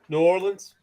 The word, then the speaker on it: New Orleans: So C, how do you pronounce it? New Orleans. Okay. Oh, okay. You get you enunciate. Yeah, I hear you. New Orleans. New Orleans. It is 2 words.